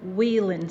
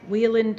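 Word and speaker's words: Wieland: observed at the flam residence it's 1452 North Wheeland Street in Chicago immediately following the interment and the family will be sitting shiva there today until 6:00 p.m.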